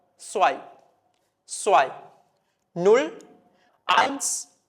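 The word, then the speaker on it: zwei: ഉച്ചാരണത്തിൽ വരുന്ന വ്യത്യാസം പഠിച്ചു സെഡ് എന്ന് പറയുന്ന ആൽഫബെറ്റിൽ സ്റ്റാർട്ട് ചെയ്യുമ്പോൾ നിങ്ങൾക്കറിയാം എസ് ആയിട്ട് ഉച്ചരിക്കണം അതുപോലെ ഇ ഐ വരുന്ന സമയത്ത് നിങ്ങൾക്കറിയാം ഐ ആയിട്ട് വായിക്കണം സോ ഇത് വായിക്കുന്നത് സ്വൈ സ്വൈ നുൾ ഐസ് സ്വൈ നുൾ ഐൻസ് സ്വൈ ഇനി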